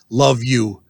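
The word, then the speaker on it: LOVVU: villains and under ghouls their abbreviation is l-o-v-v-u pronounced love you they are made up of the former members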